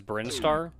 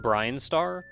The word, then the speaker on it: Brinstar: looked into this earlier there's no official pronunciation for it but the general consensus is brinstar not brian starr but i play playing